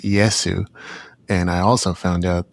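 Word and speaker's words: イエス: I looked into this a little bit as well, nowhere near as much as you, but in Japan, it's pronounced Yesu.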